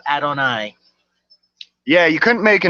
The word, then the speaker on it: Adonai: And my last name is spelled Adonai. That's pronounced Adonai. That's my real name, Adonai.